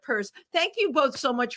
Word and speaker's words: Pierce: for an lgbtq organization the word purse in it as in I've got a fabulous purse exactly the the Zimmerman purse Democrats um and we're gonna have to remind people of that because they're gonna like forget that they're gonna see it like I did and say Pierce instead of purse thank you both so